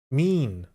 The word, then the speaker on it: mien: Mean.